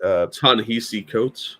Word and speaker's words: Ta-Nehisi Coates: Ta-Nehisi Coates.